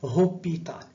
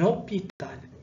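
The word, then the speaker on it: hôpital: تتنطقش، ما تنقولوش ان هوبيتال، تنطقو ديريكتومون لو او. عليها درنا عليها اكسون سيركونفليكس باش نوضحو هاد المسألة. وتنديرو ليزون مع ان تنقولوا ان اوبيتال. ان اوبيتال هاد لو اش ما نطقناهاش.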